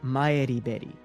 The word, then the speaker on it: Maribel: of Japanese university students named Maribel Hearn and Renko Usami, though Maribel's original pronunciation is closer to Maeriberi.